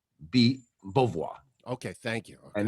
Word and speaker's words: Beauvoir: Jean Beauvoir, right? Beauvoir, and it's Beau, but it's like a bo. Beauvoir.